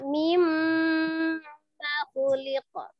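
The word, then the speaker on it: مما خلق: Ya, kurang gunanya ya, mimma khuliqa. falyanzuril insanu mimma khuliqa. Itu saja. Mimma khuliqa. Ma-nya pendek, hanya digunakan di mim tasdid.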